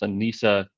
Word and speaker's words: ENISA: tomorrow and of course the easiest way to remember how to pronounce Ana it's just remember it doesn't ride with cisa which means I'm saying it wrong constantly um also notice